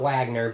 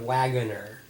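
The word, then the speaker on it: Waggoner: Not Wagner, but Wagunner.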